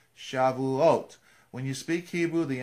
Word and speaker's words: Shavuot: those either repeating it's Shavuot when you speak Hebrew the infant the exes the accent is always on the last syllable unless I say otherwise